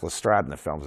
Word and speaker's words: Lestrade: Although it's pronounced Lestrade in the films, it's actually pronounced Lestrade.